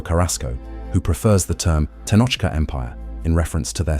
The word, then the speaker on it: Tenochcah: tribal designation that included the Tlatelolco, Tenochca, Nahuatl pronunciation, Tenochca, referring only to the Mexica of Tenochtitlan, excluding